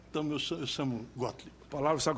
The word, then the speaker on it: Gottlieb: E diga o sobrenome aí para ficar claro, para a gente não errar a pronúncia depois. Bom dia, senador. Muito obrigado pelo convite. Meu nome é Gottlieb.